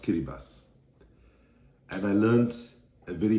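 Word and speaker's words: Kiribati: in the Pacific in Vanuatu Fiji and in kirati pronounced kiribas and I learned a very painful slogan while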